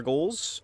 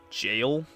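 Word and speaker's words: gaol: We cleared the two remaining Ever goals, and I just found out that goal, I've been pronouncing that wrong, it's just jail, but a different way to spell it, and I didn't know that until actually super recently.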